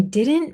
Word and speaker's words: didn't: So, a lot of the times when we say didn't didn't, we don't pronounce it very clearly. I didn't I didn't realize. I didn't didn't realize. The t kind of fades away.